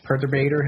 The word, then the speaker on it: Perturbator: So the intro and outro song is, Perturbator's Theme by Perturbator. Am I pronouncing that correctly?